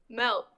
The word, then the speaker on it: Melt: i said melt no say it right pronounce the t at the end melt all right just what'd